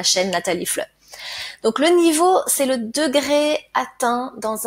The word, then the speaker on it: niveau: assez facile à prononcer hein e a se prononce o niveau niveau ce mot a plusieurs significations nous allons parler